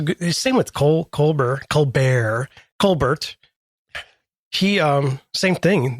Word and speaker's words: Colbert: Uh he that is how his parents pronounce a name. Oh, is it? Yeah. Col Bear.